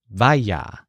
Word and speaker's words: vaya: So when you think of Ir's backyard, the important word here is vaya. So this word sounds kind of like fire, but it's spelled V-A-Y-A.